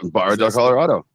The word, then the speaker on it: Barra del Colorado: All right, and then Ken says that his wife's family is from, I'm going to butcher it, but Barra del Colorado. Yeah, Barra del Colorado.